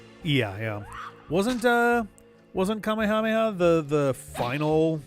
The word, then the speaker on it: Kamehameha: Wasn't uh wasn't Kamehameha the the final like queen of Hawaii? Or maybe it wasn't Kamehameha the first. Kamehahha I think is the is the Hawaiian pronunciation.